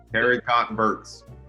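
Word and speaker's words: haricots verts: Yeah, you got to do that phonetically. Haricot Verts. Yeah, haircut hurts. That's how I know it now.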